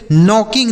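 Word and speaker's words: knock: देखिए यहां पर भी के साथ एन लिखा है। तो इसलिए यहां के साइलेंट है।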